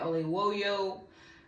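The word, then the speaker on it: Oyelowo: of emotion so again shout out to David O woyo right yeah you said it right for being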